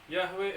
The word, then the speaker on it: Yahweh: memang itu namanya memang tulisan Ibrani yhwh yahwe bacanya tapi sekarang namanya enggak